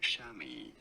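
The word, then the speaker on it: chamois: English in the US this is said as shami okay shami so I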